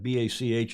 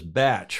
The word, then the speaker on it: bach: hamish's batch and that b-a-c-h is not Bach it's pronounced batch in New Zealand up here in Mercury